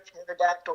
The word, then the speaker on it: pterodactyl: Oh, Why, why can't you hear a pterodactyl going to the bathroom? Because the P is silent.